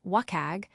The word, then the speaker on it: WCAG: WCAG, pronounced WAG, serves as your map to digital inclusivity.